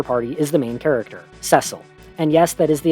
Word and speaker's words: Cecil: In FF4, the only constant in your party is the main character, Cecil. And yes, that is the official pronunciation, I'm sorry.